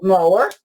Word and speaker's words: Mower: who is named Cathleen Mo mower m o We R like a lawn mower but she she pronounce a m or something like that but anyway